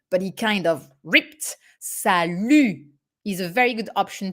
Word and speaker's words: salut: salud is perfectly fine careful with the pronunciation here too sally a closed u and the final t that is not here but should be here is not pronounced okay you do not